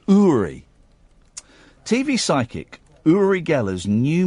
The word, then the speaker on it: Uri: His name is pronounced Uri. Uri. We all want to say Yuri, but it's pronounced Uri.